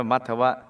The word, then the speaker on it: มัทวะ: ไป ทั่ว หมด 5 มัทวะ มอ ม้า แมง กาด ท ทหาร 2 ตัว ว แหวน สระอะ อ่าน ว่า มัทวะ ทรง มี กริย ยา